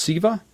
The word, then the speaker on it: Siva: I got to assume that this is it pronounced Siva? Is that how you pronounce the next line?